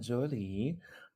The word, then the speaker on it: Zhou-Lee: sure hi everybody um my name is Jolie uh I pronounced Adam um let's see what else I'm